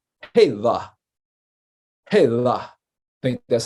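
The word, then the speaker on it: Hélà: It also has a meaning of like a rock or a boulder, So Selah rhymes with one of the pronunciations or the spellings of Hela or Hela.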